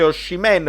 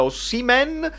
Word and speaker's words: Osimhen: Belotti, è arrivato Osimhen, non si dice Oshimen, pare si dica Osimhen, quindi dobbiamo capire che giocatore è.